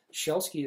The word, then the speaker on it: Szelski: Szelski is actually the correct Polish pronunciation of my last name, Szelski, like a shell, Szelski, but in English it's Sielski.